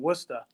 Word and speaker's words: Worcester: Providence in Worcester now if I were to pronounce it correctly it's Providence and Worcester these units are now